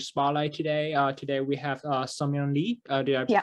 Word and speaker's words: Seungmyoung: Today we have Seungmyoung Lee. Did I Yeah.